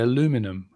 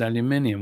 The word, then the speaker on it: aluminium: we say illuminated see americans say aluminum when it's aluminium what do you want